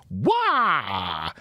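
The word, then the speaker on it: Waugh: It was directed by Scott Wah. I think that's how you say it. W-A-U-G-H. Common spelling? Yeah. Wah?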